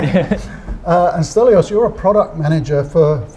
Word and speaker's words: Stelios: Have I pronounced that right? Yes, that's right. Yeah. And Stelios, you're a product manager for what sort of products?